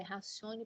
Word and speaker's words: ratione personae: pessoa ou racione personae escreve ratione personae quem quiser escrever no latim essa é a grafia é ratione personae é mas a pronúncia é racione personae em e aí a